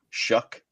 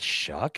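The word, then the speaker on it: Shough: Is that shuck? It's sh h o u g h. It's pronounced weird. It's not pronounced in a way that you would think it would be.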